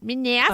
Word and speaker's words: Manassas: You have to say it like that. Manassas.